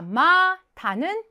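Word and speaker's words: まだ: 정확하게 확인해 두셔야 되겠죠 자 이번에는 마타마다 발음 조심하셔야 되죠 마타는 다시 또 자 마다는 아직 자 마타 아이 마시타 또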